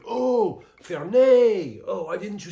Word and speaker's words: Fernet: I was like, I point, and he's like, oh, Fernet. Oh, why didn't you say Fernet? I'm like, all right, bro. I don't know. I guess French people don't pronounce the T in Fernet, so something you should know if you're ever visiting.